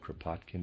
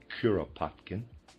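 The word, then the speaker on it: Kuropatkin: The Russian general Curropotkin, excuse me, I pronounced it Katkin before. Readers aside, that's incorrect. It's Curopotkin. End of readers aside.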